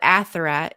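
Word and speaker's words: Athirat: So yes, Ashra is her name in Hebrew. I don't know if that's exactly how you'd pronounce it, but Atherat is how you would pronounce it in Ugarit.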